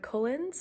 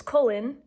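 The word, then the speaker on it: Cullen: I call him Edward cullins I call his family the cins is it's colen no s um I know that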